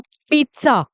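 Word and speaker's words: pizza: गलत है उसको पिज़्ज़ा पिज़्ज़ा नहीं बोलते इसको पिज़्ज़ा बोलते हैं तो इसका रियल प्रनंसीएशन है जो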